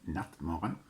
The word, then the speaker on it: Nattmaran: this is michael from nutmeg that's how it's pronounced in swedish and i'm here to